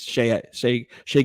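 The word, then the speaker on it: Shai: I would say Shea I used to say his name incorrectly all the time I say shy because it looks like it but it's Shay gildras um same thing with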